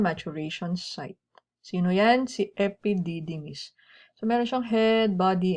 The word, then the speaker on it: epididymis: 6 meters, epididymis. Epididymis. 5 syllables lang.